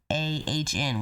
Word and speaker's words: Asiahn: So I think her name is Asiahn, but it's spelled Asiahn, which is what I believe it's called. It sounds like Asian.